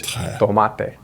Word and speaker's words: tomate: video related to pronunciation, but the letter T in Spanish isn't quite the same. So we say tomato, but in Spanish it's tomate. Tomate. In the Spanish version, you don't feel air.